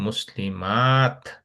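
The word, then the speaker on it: مسلمات: আর এখানে মায়ের জায়গায় একটু টান দিতে হবে, যেহেতু একটা আলিফ আছে, সেটা বলতে হবে মুসলিমাত। আর এখানে তাটা উচ্চারণটা ঠিক মতো করতে হবে, মুসলিমাত। তা একটা যেন বোঝা যায়।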